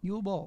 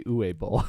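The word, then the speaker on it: Uwe Boll: How do you say Uwe Bowl? Yule Bowl. Yule Bowl? I always say Uwe Bowl. Whatever. No, it's Yule Bowl.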